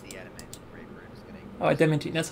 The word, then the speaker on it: adamantine: Oh, adamantine, that's how you say it, okay.